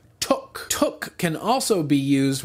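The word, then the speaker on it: tök: learn some Hungarian here squash in Hungarian is took pronounced like took took can also be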